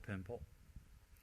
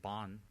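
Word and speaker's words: Bön: It's called Pönpo. They spell it B-O-N, Bon, but it's actually not Bon. It's translated as Pön or Pönpo, or a shamanistic practitioner.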